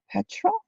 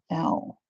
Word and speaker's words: petrel: Petrol? Not petrol like I know petrol. It's petrol with two E's. Petrel.